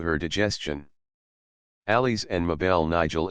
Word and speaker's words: Nigel: Alice and Mabel Nigel is pronounced as it is spelt, the last syllable as the first in gelatine.